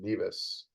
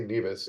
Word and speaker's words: Nevis: Kitts and Nevis. So it turns out they say Nevis and we say Nevis in the US, or so I was told.